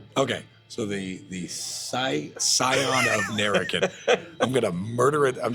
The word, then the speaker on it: Nerikan: The Scion of Nerikan is how you pronounce the book. Okay, so the scion of Nerikan.